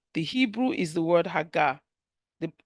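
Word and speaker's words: הָגָה: in Joshua 18 the Hebrew is the word hagga the pronunciation is h a g a h is pronounced hagga and it means to murmur in pleasure or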